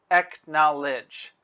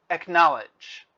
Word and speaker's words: acknowledge: three syllables ek knowledge acknowledge the stress is on the second syllable acknowledge acknowledge now the grammar acknowledge